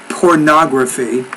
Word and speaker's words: pornography: websites like Zbornak lovely let me say pornography so stress is on that third to the last syllable pornography this meant Africa the